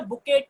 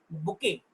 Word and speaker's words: bouquet: It is not a bouquet here. The letter T is silent. So we say it bouquet, not bouquet.